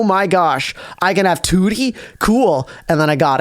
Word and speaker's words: Tewtiy: Tu proper grammatical way toti toy I would say like it's like the number two and then the letter T toti so two Tod oh